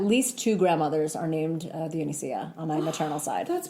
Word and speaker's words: Dionisia: So it's Dionisia Hatzis.